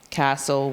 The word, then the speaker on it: castle: And then we go into STLE, thistle, castle, whistle. We know that it says soul, and then that T is silent.